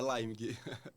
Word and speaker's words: Leimig: Ó, é Leimig.